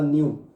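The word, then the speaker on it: ν: कौन सा सिंबल था, इसको मैंने कहा था न्यू, और इंग्लिश में लिख देता हूँ, W नहीं आएगा, प्रोनाउंसिएशन है न्यू, इसलिए NEU लिखा है, ठीक है ना।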